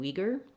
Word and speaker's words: Uyghur: And so if you do an oo and an e, ooey, you can hear how it sounds actually similar to we. So this is not the worst pronunciation in the world. It's not the furthest from the authentic.